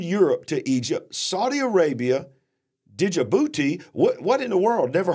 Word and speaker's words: Djibouti: Okay, I think the D is silent.